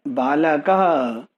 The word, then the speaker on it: बालकः: And you know, here is the shorter a and here it is the longer a. So this is pronounced as balakah.